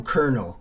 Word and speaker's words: colonel: maybe i didn't know kernel kernel is how you say it like a colonel in the army that's why it's very